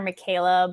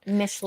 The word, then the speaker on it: Michela: I did like the because I was gonna say I think we keep calling her Michaela, but it's like Mishla. Chella is how they say it.